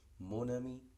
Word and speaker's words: mon ami: Mon ami, desaparece la nasalización y esa N cobra vigencia, se pronuncia como N. Nosotros habíamos dicho que en la nasalización la consonante se pierde, pero con la liaison se recupera, podríamos decirlo. Entonces, en este caso la N de mon aparece y se enlaza con la A de ami, mon ami.